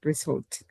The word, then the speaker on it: result: And as a result as a result no result result in the second syllable.